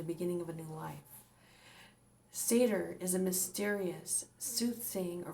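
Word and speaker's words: seiðr: norse traditions of scandinavia comes the sorcery of seder that's how you say it the practice of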